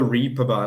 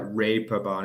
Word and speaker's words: Reeperbahn: Yeah, and Ben, it's not the Reeperbahn, like the actual German, they say like Reeperbahn. It almost sounds like the word that. But yeah, the English people, because they don't get the A sound, the A with the two dots on it, basically.